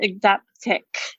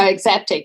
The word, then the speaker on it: Exaptec: Tell us about Exaptec. Exaptec, yeah. So you don't actually, I say to people, the best way to pronounce is don't look at it, just roll. Just go Exaptec.